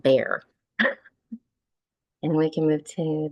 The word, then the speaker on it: Bexar: at the one that it's spelled b x a r that's pronounced bear and we can move